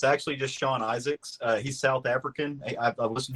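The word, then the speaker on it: Izaakse: with um I know the last name is isaki uh Sean isak isak it's hey Bill it's actually just Sean Isaac's he's South African I've listened to him on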